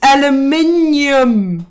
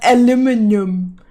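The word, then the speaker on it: aluminium: The American the American pronunciation. It's aluminum, not aluminum.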